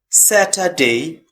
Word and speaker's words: Saturday: Okay, next Saturday. Also R is silent, and we have Sunday.